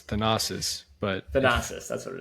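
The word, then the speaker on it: Thanasis: Is it Does it pronounce Thannis? No. No. No. It's Thanosis.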